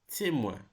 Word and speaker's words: témoin: Soin, besoin, coin, rejoindre, moins, témoin. All right, so you can hear the ouin with the pronunciation of each word.